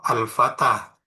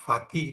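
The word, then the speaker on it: الفتى: Sementara yang takdir ini seperti contoh al-fatah. Al-fatah ini i'rab rafa nasab atau jar tetap bacanya ya al-fatah. Nggak ada perubahan. Ra'aitul fatah. Meskipun nasab tetap dibaca fatah karena dikira-kirakan. Marartu bil fatah. Bukan bala berupa bil fatih tapi tetap fatah.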